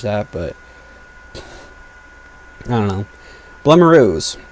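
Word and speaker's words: Blumaroo: Blemiroos. I think it's pronounced Bloomaroo, but I like Blemiroo. I'm going to call it Blemiroo.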